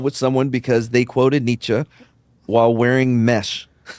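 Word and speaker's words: Nietzsche: No, it's actually pronounced Nichza. I I don't know where Mad's right on this one. In America, where we don't care about what country he came from, it's Nichi.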